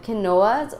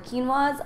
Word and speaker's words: quinoa: My second favorite thing are the quinoas or quinoas. I know you're supposed to pronounce it as quinoa, but a lot of people pronounce it as quinoa.